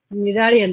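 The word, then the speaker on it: Cnidaria: Phylum निडारिया भी बोल सकते हैं आप इसको, सी साइलेंट होता है यहाँ पे, और हम लोग इसको सिलेंट्रेटा भी कह सकते हैं, सिलेंट्रेटा।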